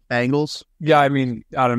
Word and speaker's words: Bengals: to their best also is it Bengals or Bengals I feel like I've gone back and forth this podcast I always say Bengals with a long a bangal yeah I mean out